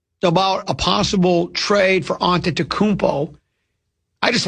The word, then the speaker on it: Antetokounmpo: Antetokounmpo. So you don't just say that Greek kid? No, I don't say that Greek kid. So Antetokounmpo, am I saying it right? Yeah. Antetokounmpo.